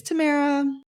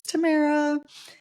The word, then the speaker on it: Tamara: where people were like starting to say my name wrong and I would you know it's Tamara it's Tamara and then like some I don't know I